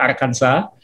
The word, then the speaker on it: Arkansas: jalan-jalan ke bentonville arkansas tulisannya arkansas bacanya arkanza berhak kotanya di ujung